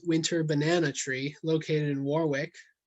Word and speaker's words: Warwick: an old old winter banana tree located in warwick work as it is pronounced locally um and this is another view